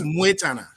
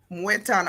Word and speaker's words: Mwetana: Learn to pronounce it. Yes, it's Mwetana. Mwetana.